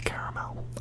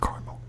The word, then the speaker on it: caramel: but I don't say caramel. I just don't, and I just won't. I just don't want to. I don't care if there's an extra A.